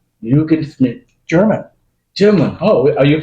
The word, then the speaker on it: Yugan Schmid: what how do you say it yugan Schmid yugan Schmid German German oh are you from German no